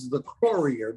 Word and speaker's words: Locorriere: if you pronounce it in Italian it's The Courier but it takes two hands to pronounce and a lot of the times I'm playing guitar so I've Americanized it when I was a